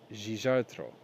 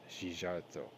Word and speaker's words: Szijjártó: Okay, I'm going to pronounce this. It's Hungarian. His name is Peter Szijjártó. Said this week, I think it's Szijjártó, said this week that there's no high-level relationship in place with the Biden administration.